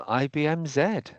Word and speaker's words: IBM Z: about AI acceleration on IBM Z so take it away thanks for the introduction Marcus although I would add we say IBM z um I'll just get